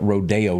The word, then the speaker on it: Rodeo: and then you know they can't pronounce rodeo out there they call it rodeo drive oh yeah it's so